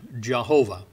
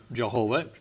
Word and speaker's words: Jehovah: it and and they we we've taken the spelling from the german because the yah in german is spelled j-a so that came out jehovah all right now jehovah has years of usage behind it so i when i speak of the word i generally say jehovah just has a history